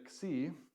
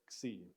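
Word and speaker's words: ξι: c and it is a combo letter of Kappa and sigma put together so so if you say then put it together see that's the letter that's the sounds which is not unlike R combo letter right X now we put the vowel at the front when we say it we don't say C we say x and yet we're still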